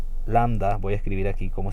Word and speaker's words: lambda: aquí se llama lambda lambda es landa voy a escribir aquí